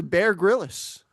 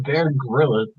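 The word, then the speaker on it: Bear Grylls: No Bear Gillis. It's not Bear Gorilla.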